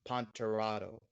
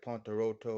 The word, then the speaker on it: Ponterado: So yeah, it's pronounced Ponterado. Some Ponterado. people, yeah. Some people say like Ponteroto or something, or Pont. Some people like even say like they don't even like pay attention to the letter sometimes, and they say